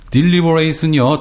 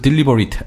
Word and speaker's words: deliberate: 그래서 deliberate는요 동사로 신중하게 생각하다 이런 뜻이고요. 형용사가 되면은요 그 발음이 조금 바뀝니다. 강세가 바뀌어요. 발음이 바뀌는 게 아니라. 그래서 deliberate 하면은요 형용사가 됩니다.